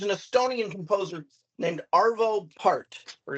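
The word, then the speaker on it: Pärt: like there's there's an Estonian composer named arvo part or it's pronounced per p a r t with an O out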